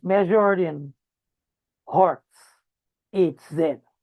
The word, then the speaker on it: Hertz: And it's measured in hertz. Hz zed. Right? It's spelled H E R T Z right and